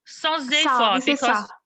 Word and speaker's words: sans effort: We say sans, S we pronounce. We don't pronounce sans effort because we should do a liaison.